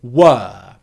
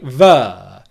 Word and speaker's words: were: one that you've probably heard already which is were the second is i'm going to explain why